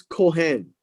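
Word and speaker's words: כהן: Now, the word priests here, verse 35, is Kohen. Can be pronounced as a C or a K.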